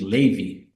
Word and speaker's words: Levi: so it's actually pronoun it's spelled Levi but uh it's my name's actually Ley that's the ashkenazic Jewish way of pronouncing Levi is Ley so most people know